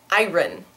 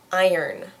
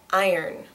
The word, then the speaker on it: iron: people pronounce the word ar ar so in a in a Southern accent at least in certain States uh this word only has one syllable and it is pronounced